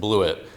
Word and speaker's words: Blewett: Funny story about my last name here, because it is pronounced Blewett.